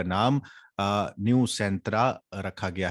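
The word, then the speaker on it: Nusantara: नई कैपिटल का नाम न्यू सेंट्रा रखा गया है, न्यू सेंटारा या न्यू सांटरा, जो इसकी प्रोनाउंसिएशन है, लेकिन ये इसका नाम है, ये याद रखिएगा, है ना, न्यू सेंटारा।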